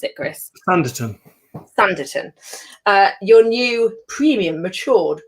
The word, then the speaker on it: Sanditon: How do you pronounce it, Chris? Sanditon.